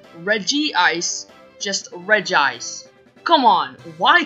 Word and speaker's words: Regice: be called Reggie ice sure it might look a little weird with the two eyes next to each other but it would make me feel better because then it would actually be pronounced Reggie ice it's just so annoying